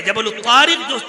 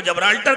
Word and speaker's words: جبل الطارق: کو جبرالٹر کہتے ہیں، جبل الطارق جو اصل نام تھا اس کا، اور جس کا تلفظ بگڑ گیا اور اس کو جبرالٹر کہا جاتا ہے، اس جگہ پر دنیا